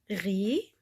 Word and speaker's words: riz: a un e aussi donc ici riz comme le riz le orz il y a le z on le prononce pas à la fin un rire ضحك un